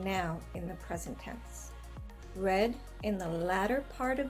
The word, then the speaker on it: read: homographs in a sentence we will use the example read spelled r-e-a-d read pronounced red means the past tense of reading read pronounce read means present tense of reading like is happening now here in this sentence